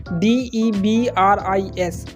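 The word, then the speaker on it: debris: वह है डिब्बी डिब्रिस इसमें जो एस की साउंड है ना वह साइलेंट रहेगी इसके हम क्या प्रोनाउंस करेंगे डबरी दी आई बी आर आई एस ये स्पेलिंग है लेकिन एस की जो साउंड है वो इसमें प्रोनाउंस नहीं होती ये आप इसको यहां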